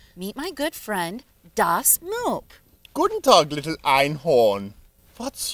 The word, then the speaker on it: moop: What's moop? Well, moop stands for matter out of place. It's like trash, and it rhymes with scheiße.